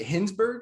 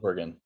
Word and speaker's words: Hingsbergen: Is it Hingsberg? Is that how you say it? Hingsbergen. Hingsbergen. My bad. Totally butchered that, but we're going to roll with it.